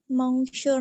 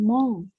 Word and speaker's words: monsieur: Monsieur Nasib. Bukan mong, tapi apa? Monsieur.